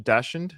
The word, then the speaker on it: dachshund: It's It's a sleeping uh Am I saying the name of dash dachshund?